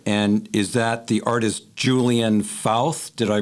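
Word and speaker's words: Julian Fauth: And is that the artist Julian Fouth? Did I pronounce that correctly?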